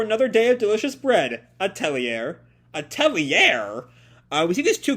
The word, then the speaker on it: atelier: It looks like it's an atelier? My thing is muted. Atelier. Atelier, it sounds like, by this pronunciation thing.